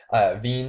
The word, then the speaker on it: Wien: is SK Rapid Wien, Wien, I believe. I'm pretty sure they pronounce their W's as V's.